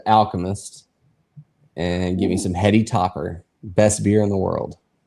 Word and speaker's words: Heady Topper: Spell it Heady, Hedy, Heady Topper. Heady, like head. Okay. Heady Topper.